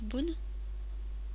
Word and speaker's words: 分: Tok après les heures les minutes qui se lisent boun et c'est dérivé pour une prononciation plus aisée F et Pun ce qu' sert également